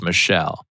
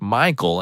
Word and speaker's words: Michael: And again, this girl was adamant it was pronounced Michelle. Mom beuse said something along the lines of, "It's literally a name from the Bible. It's pronounced Michael and has been for thousands of years."